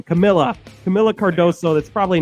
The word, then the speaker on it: Camila: uh Mrs cardoso I forgot her first name Camila Camila cardoso that's probably not how you say it either um but she it is Camila okay Camila cardoso they allowed her to just